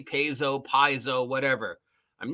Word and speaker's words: Paizo: bunch of crap because I Mis pronounce the name piso pzo pazo now you would think that would encourage me to try and pronounce the name rightly because apparently It's upsetting people if I say pzo instead of piso or pazo or whatever the actual name is and if it